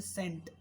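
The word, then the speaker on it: scent: जैसे सेंट, perfume की तरह एक सेंट लगाने के लिए आता है, उसको हम यहाँ पे S प्रोनाउंस कर रहे हैं, C इसमें साइलेंट है।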